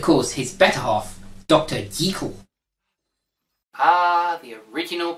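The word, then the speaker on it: Jekyll: deagle ah the original pronunciation music to my ears well make my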